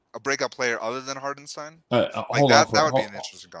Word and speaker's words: Hartenstein: so heart and stein that's the that's the official pronunciation hardenstein i don't know why because he's american he was born in america uh he has the american pronunciation the german pronunciation is it it's not the it's hartenstein hartenstein you know it's uh